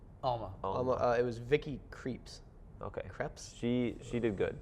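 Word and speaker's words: Krieps: It was Vicky Creeps. Okay, Creps? she did good. Creeps? Is that how you pronounce that? I think it's Krebs. Creps.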